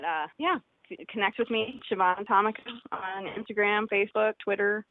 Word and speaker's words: Siobhan: B is in boy, Han, and it's pronounced Siobhan. I know it's got a B, but it's pronounced with a V.